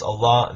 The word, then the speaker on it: Allah: And in Arabic it's pronounced Allah, that it means God, no different.